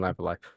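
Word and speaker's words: Live A Live: It's pronounced Live Alive, and I keep saying Live Alive.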